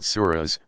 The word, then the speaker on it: surah: the New Testament arranged in 114 sections called surahs pronounced Sura Mohamed's earliest revelations tend to be short